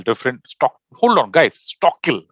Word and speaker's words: Stockal: stock hold on guys stockhill right that's how i'm supposed to pronounce it right it's talking yeah